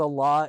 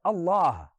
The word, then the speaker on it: Allah: of this conversation, literally, the name of our God, Allah, is phonetically such a way constructed that the alif comes from the throat, the lam is now elongated from the fullness of your mouth, and the ha is aspirated as a breath comes from you.